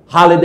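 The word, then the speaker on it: Halhed: নাতানিয়াল Brassey হালেদ যাকে ভুল উচ্চারণ অনেকে হেলহেড বলে।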